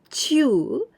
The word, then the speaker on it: 中: 十中八九正しいです。十中八九正しいです。Now the next usage of this chew, and we pronounce chew, this we must use nouns.